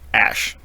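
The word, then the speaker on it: Æ: Elon Musk saying it's pronounced Ash.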